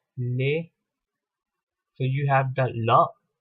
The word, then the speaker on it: les: of course da and read as lay so you have the